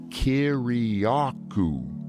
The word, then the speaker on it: Kiriakou: And I go, Kiriakou. Just like it's spelled.